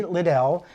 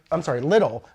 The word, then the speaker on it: Liddell: Her name is Kelly Liddell, and I always want to say Little.